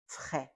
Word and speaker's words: frais: Frais. There's an S at the end. We do not read that S at the end. Frais. The second word is grand.